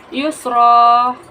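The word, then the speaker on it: يُسْرًا: Yusra. Hukum tajwidnya mad iwat karena huruf ro berharakat tanwin dan diwakafkan. Maka cara bacanya tanda tanwin dihilangkan, diganti dengan kasrah dan dipanjangkan dengan dua harakat.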